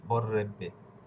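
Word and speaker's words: berrebbe: পচি এ দে নে বররেবে বররে ইংরেজি উচ্চারণ কিন্তু এখানে দুইটা বি থাকলে শুধু একটা বির উচ্চারণ হবে কিন্তু ইটালিয়ান ভাষায় দুইটাই হবে বররেব বররেবে এসছেে পশ্চেদু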